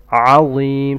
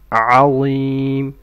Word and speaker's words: عظيم: عظيم starts with an عين from the throat. عظيم.